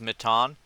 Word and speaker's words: Matan: Um, if a cat I I I I just want to say like I So, so apparently how you pronounce his name is is is Mitan.